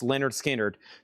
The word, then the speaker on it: Lynyrd Skynyrd: And Lynyrd Skynyrd, pronounced Lynyrd Skynyrd, To Be a Simple Kind of Man.